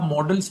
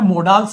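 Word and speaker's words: modals: से आप मॉडल्स बोल, बेटा मोडाल्स नहीं बोलते, इन्हें मॉडल्स बोलते हैं। क्या बोलते हैं? मॉडल्स। मोडाल्स नहीं, वैसे बोल सकते हो, लेकिन अगर इसका देखेंगे आप प्रोनाउंसिएशन मॉडल्स होता है, मोडाल्स नहीं होता बेटा।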